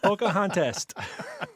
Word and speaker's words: Pocahontas: who wed pocahontas yes what did you rhyme with pompous contest pompous and contest pocahontas got it got it